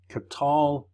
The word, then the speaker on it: qatal: of stop your pronunciation it's helping you see that this is a vocal schwa instead of a closed syllable with an O sound so it's cut to LA Cotte to la qatal cut to LA qatal